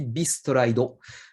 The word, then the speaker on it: Beast Ride: Alors oui, on prononce Bi apparemment, hein, selon le katakana qui est ici, Beast Raido. Donc Beast Ride et non Best Ride par exemple.